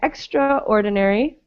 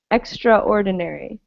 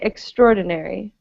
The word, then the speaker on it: extraordinary: we don't pronounce it extraordinary we just say extraordinary as though the a weren't there so it's pronounced like this extraordinary it's a same same